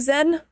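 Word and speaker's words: Xen: Cuz I know it's an X, but my brain can't comprehend how to pronounce it. I am dyslexic. Um, so if I messed up your name, I do so apologize. I really like your hair. Thanks. Pronounced like Zen.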